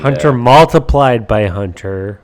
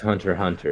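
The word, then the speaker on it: Hunter × Hunter: x Hunter or I'm sorry Hunter Hunter and Hunter multiplied by Hunter Mark it's pronounced Hunter Hunter it's pronounced mult Hunter multip actually it's just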